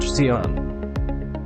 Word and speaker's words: Xeon: five gigahertz intel's high-end x86 based cpu chips pronounced xeon xeon chips are faster and more advanced than